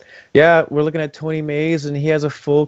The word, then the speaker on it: Meis: This is Tony Mays. That is spelled MEIS.